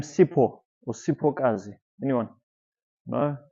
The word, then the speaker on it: Sipho: Does anybody know, or does anybody have a friend with the name Sipho or Sipho Kazi? Anyone? No? Yes? Ms. Swart is nodding her head. Sipho is spelled S-I.